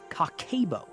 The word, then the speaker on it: Kakeibo: a Japanese method called cabo pronounced cockabo.